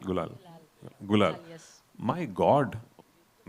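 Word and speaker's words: Gulaal: Gulal. Gul. Gulal.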